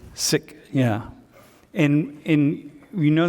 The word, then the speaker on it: Sikh: I pronounce it as sick sick that KH sound at the end sick yeah in in we